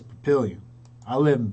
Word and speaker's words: Papillion: Unless you are Parker, who calls it Papillon, or you are Walgreens Pharmacy, who calls it Papillon, in their recordings. If you're in Nebraska, it's Papillion. I live in Papillion.